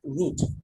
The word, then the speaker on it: route: তারপর বলছি কি this decision making action is called রাউটিং। অর্থাৎ এটা বলা হচ্ছে রাউটিং। রাউটিং এর কাজ কি, যে সে একটা রুট ঠিক করে দিবে। এটা অ্যাকচুয়াল উচ্চারণ হচ্ছে কিন্তু রুট, হ্যাঁ। আমরা এটাকে রাউট বলি কারণ হচ্ছে কি বলবো